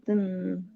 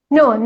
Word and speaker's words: gluten: you're mistaking the glottal stop for flap T. In the word better, yeah, when you want to flap your T, you say better. It's a combination of D and R sounds, okay? But here, it's not that kind of T. This is a glottal stop.